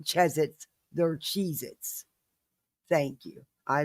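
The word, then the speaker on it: Cheez-Its: They're not cheesits. They're Cheezits. Thank you. I love you. I'm almost done. Yes, you can watch TV. One hour. All right. Love you. They're cheesits, not chzets.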